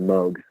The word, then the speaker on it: Moog: and purposes but technically it's pronounced Moog so for example they had a keyboard called the rogue that was one of their models the whole point was it for it to rhyme so it was a mug rogue and but obviously the temptation is to call it Moog that's what it looks like so for everybody that they told no actually it's mug and the registered trademark